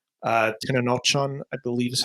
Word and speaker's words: Tenochtitlan: There's the first scene where it's Tenochtitlan, I believe is how you pronounce it, the Aztec raid, where they're watching them all be slaughtered by the Spaniards.